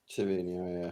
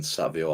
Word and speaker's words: Savinho: Savinho, yeah, Savinho. I think it's Savinho within Brazil and then Savio outside, but everyone's getting towards Savinho.